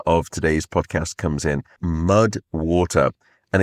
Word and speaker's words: MUDWTR: That is where the supporter of today's podcast comes in, Mud Water, and it is spelled MUDWTR. So Mud Water.